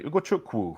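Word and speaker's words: Ugochukwu: him okay Ryan Leslie ukuku even better if you pronounce it correctly ukuku from Ren 27 million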